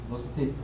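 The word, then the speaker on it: gnostic: 지식 그노시스인데 지자를 발음을 안 하는 거죠.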